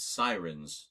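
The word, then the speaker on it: Psirens: But one of the scripts in here is for an episode called Sirens, spelled with a P.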